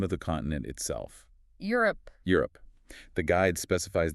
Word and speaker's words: Europe: The guide specifies the correct pronunciation is 2 syllables. Europe. Europe, not Europe, with Oh. that extra sound in the middle. Exactly. It's a very common, subtle mistake. Focusing on that clean 2-syllable Europe just makes you sound clearer and more confident from the very start.